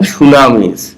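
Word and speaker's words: tsunami: করে our land আমাদের ভূমি বা জমি ফ্রম সুনামি সুনামি থেকে দেখ আমি ওয়ার্ড মিনিং এ সময়টাকে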